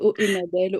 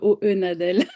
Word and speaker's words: Hohenadel: Ah, on peut prononcer soit l'allemande, soit la française, Hohenadel, Hohenadel.